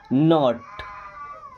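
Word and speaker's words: knot: नॉट।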